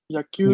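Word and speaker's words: 野球: Ok, solo atención que no es una sílaba larga al inicio, es yagi, yakyu, Yagi. yakan.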